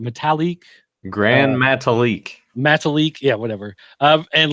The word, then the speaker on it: Metalik: Metalik.